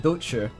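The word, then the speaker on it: douchi: It's called docher. That's my rough approximation of how it's pronounced.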